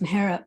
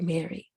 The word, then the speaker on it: Mehera: was called Mira and it was pronounced correctly by the Parsi community and then when she went to um me with a puzzy with her mother she was called Mira because they couldn't quite pronounce Mara properly then when they went to live and go as she was called Mary and then when she came back to Bob to Bubba she was Mara again so she had this